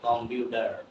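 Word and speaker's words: computer: দুই দিকে যখন ভাওয়েল থাকবে তখন হয়ে যাবে কি ডি, এই জন্য হয়ে যাবে কম্পিউটার। কম্পিউটার কম্পিউটার কম্পিউটার, you understand?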